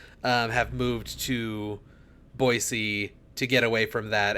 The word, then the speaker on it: Boise: As like an 18-year-old, people just do not pronounce it Boise. They pronounce it Boise outside of the city, or outside of like that area, I guess, because there's